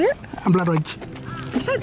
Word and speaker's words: Ampilatwatja: Ampilatwatja. You don't spell it like that.